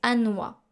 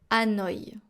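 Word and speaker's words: Hanoï: du vietnam c'est hanoi il y à un tréma sur le i donc il y a deux points sur le i parce que sinon on prononce à noah mais avec le tréma on prononce hanoi hanoi le cambodge est ce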